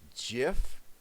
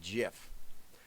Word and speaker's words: GIF: for what it's worth He says GIF is pronounced with a soft G GIF I say GIF is